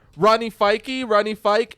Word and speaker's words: Fyke: Rodney Fyke. Rodney Fyke. It's Rodney Fyke. All right, cool. And then I go, it's spelled, but with an F. It's Rodney Fyke. And he goes, all right, Rodney and Eamon Hill.